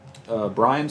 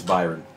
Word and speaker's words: Byron: Brian saw it. Or Brian? I don't know how to say it. Byron? It's Byron.